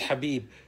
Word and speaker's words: Khabib: I should say Habib his name is Habib um of course is